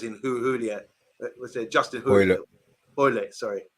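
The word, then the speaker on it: Hoilett: Justin Hoylett, sorry. Rhymes with toilet. I've got to remember that now. I was butchering his name earlier in the show. I was saying Julia. Rhymes with toilet, Hoylett.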